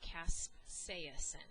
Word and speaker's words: capsaicin: Well, now it's time to talk about capsaicin, and that's how you pronounce it, capsaicin.